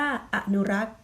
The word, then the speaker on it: อนุรักษ์: อยู่ บน เพียร ชนะ สรศรี Sorry สี จะ ไม่ ออก เสียง นะ คะ เป็น หน้า ที่ ของ ตัว ไป แล้ว ก็ คือ หยุด เสียง เป็น ชนะ ตัว นั้น จะ ออก เสียง แค่ อนุรักษ์ หยุด ที่ คำ ว่า รัก เท่า นั้น นี่ คือ มัน หยุด